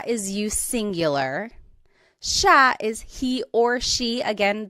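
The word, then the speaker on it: siya: and again just to point out the pronunciation it looks like it should be pronounced but it's usually pronounced Sha Sha Sila is theyo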